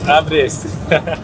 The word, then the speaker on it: Ապրես: - Ապրես (”Apres”) Apres!